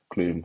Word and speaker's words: Klum: model, Klum. Why don't I say Klum? Not Heidi Clum. Klum, and it's spelled like Klum.